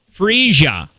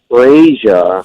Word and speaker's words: Frisia: Frisia. Your lady word, Josh, is Frisia. Frasier. Frisia. What the heck? So not the TV sitcom Frasier.